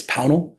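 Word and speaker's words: Pownal: Despite other pronunciations on the floor, it's Pownell.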